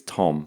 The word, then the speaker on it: Tome: We actually had an email this week from, and apologies if I get the pronunciation wrong, it's Tom, but it's spelled Tome.